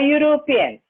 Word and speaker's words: European: Example, a boy, a European. The word European begins with the consonant sound.